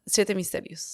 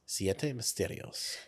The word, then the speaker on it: Siete Misterios: Do you want this one or would you like Siete Misterios? Oh, let's try the can you teach me how to pronounce that better though? That's Siete. Siete Yeah. Misterios. Siete Misterios. Yeah, you got it.